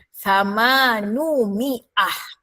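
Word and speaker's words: ثمانمائة: Nak jadikan 800 kena buang, kena gabungkan dengan perkataan miah dengan syarat buang sebutan iyah dan gantikan dengan u. Maka jadilah bunyi samanu. Jangan pula bunyi saman u. Gabungkanlah bunyi tu. Samanu gabungkan dengan Miah. Samanu Miah 800.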